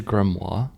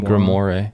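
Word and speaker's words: grimoire: was the most popular wait it's called a grimo yeah it's called a grimo is that not how you say I've been saying it wrong my whole life I've been saying grimore no holy [ __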